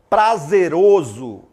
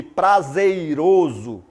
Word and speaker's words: prazeroso: outros exemplos aí ó prazeroso prazeroso em vez de prazeiroso é prazeroso privilégio em vez de